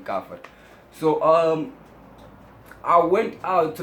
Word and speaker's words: Kaffir: The Americans say Kaffir, and we African people say Kaffir.